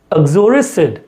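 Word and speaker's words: uxoricide: Okay, you का उच्चारण कम आएगा। ओके, इसमें आपको यू का उच्चारण नहीं करना है, इट्स एक्सोरिसिड। ओके, आगे बढ़ते हैं।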